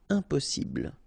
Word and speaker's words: impossible: Don't insist on the final E. Impossible.